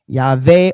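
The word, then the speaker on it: Yahweh: he recorded the um Sam Samaritans pronounced the divine name as Yave or Yave. The pronunciation would likely would have likely been Yave or Yave. the B sound better in Greek had shifted to a V sound by the time Theodor heard it. However, classical Greek would have pronounced it as a B.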